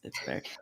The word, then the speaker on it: Barack: It's spelled like Barack, like Obama, but it's Barrack.